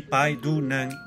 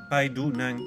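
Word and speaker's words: ไปดูหนัง: avec un G à la fin, mais qu'on prononce jamais très fortement. Donc tout ensemble, ça se dit Pai Du Nang, Pai Du Nang.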